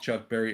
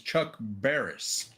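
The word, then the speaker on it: Chuck Barris: They pronounced it to where it sounded like Chuck Barry. It was Chuck Barers.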